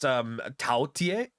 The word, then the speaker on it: Taotie: pronounced Taotie.